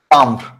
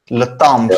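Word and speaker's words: timbre: Tambre. This is nasal A. Chalaka dekhe la ja. Le tambre. I think he's still enjoying my singing. He's lost in my voice. Okay. Le tambre, yeah.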